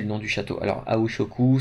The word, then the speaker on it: Aoi Shoku: Alors, Aoi Shoku, ça s'écrit A-O-I, comme ça se prononce, S-H-O-K-U, Aoi Shoku.